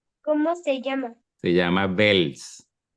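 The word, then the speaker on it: Wels: hay una pequeña diferencia se pronuncia como la v del inglés parecido parecido es casi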